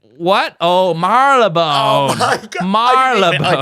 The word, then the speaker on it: Marylebone: And then the answer she gave was, and she pronounced it this way, Marie Le Bon. Shut up. Seriously, that's how she said it. And I was like, what? Oh, Marylebone.